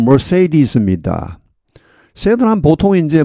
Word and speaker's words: Mercedes: Mercedes-Benz를 하죠. 영어 발음 Mercedes입니다.